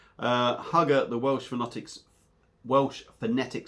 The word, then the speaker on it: Hwgga: Now, as you can see, Hwgga is obviously spelt different, but it is pronounced Hwgga because Andy has told me.